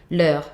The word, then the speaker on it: leur: Leur, with a like soft R at the end.